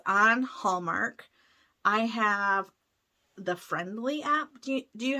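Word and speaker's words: Frndly: it's called friendly but it's not spelled right it's f-r-n-d-l-y but you pronounce it friendly but they have Hallmark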